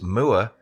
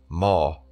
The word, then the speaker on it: moor: the way I pronounce moor may be considered as wrong, with the correct pronunciation being moor. Well, I say moor, as a cow says moo, and if you add the R, it becomes moor.